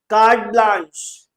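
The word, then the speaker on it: carte blanche: Card blanch is what is how it is pronounced. I am not very very familiar with the pronunciation of these foreign phrases but I know this one.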